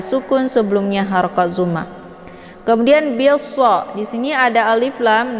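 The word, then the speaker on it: بِالصَّبْرِ: Cara bacanya bi-nya langsung dimasukkan ke dalam huruf shad dan alif lam ini tidak lagi dibaca.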